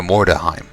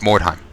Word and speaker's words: Mordheim: your not mispronouncing that I keep going to more daheim which is incorrect it's more time more time it doesn't sound like a word anymore Baron Vaughn this Dorf